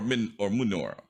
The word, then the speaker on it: Monora: Moonora is what it sounds like when a Minotaur says it, but it is spelled Monora. Oh, okay. Just one O. Okay. Yes, it is one O, but if you hear a Minotaur say it, it'll have the sound is a little longer.